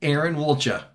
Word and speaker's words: Erin Woltja: profound ways and so today we're here with Aaron walcha yeah you pronounced it correctly oh do other people pronounce